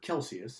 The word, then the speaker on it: Celsius: this 212 if I'm Anders Celsius or Kelsey s as it's me it originally the Swedish pronunciation he called this down